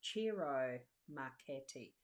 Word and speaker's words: Ciro Marchetti: I was watching a video that he featured in and he introduced himself, and it's Ciro Marchetti, as in the pronunciation of his name. I'm pretty sure that's how I heard it.